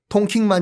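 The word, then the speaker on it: Đông Kinh: 동경과 똑같은 한자 에요 동경의 베트남 발음은 통 킹이 라고 말씀들 기억하시죠 그래서 하노이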